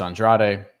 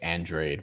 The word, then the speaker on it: Andrade: Um Demetrius Andrade, I know it's they I know people say Andre, but my my Latino brain just says and andrade because that's how you're supposed to pronounce that But